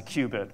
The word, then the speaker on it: qubit: I still think of that as a qubit, but you know, a quantum bit is now a qubit, spelled with a Q.